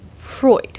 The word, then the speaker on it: Freud: So there are, 2 main theories of dream interpretation put forward by Carls Gustav Jung and Sigmund.....(I pronounce it frood lol) "Freud" ....Freud Now Freud believed dreams to be a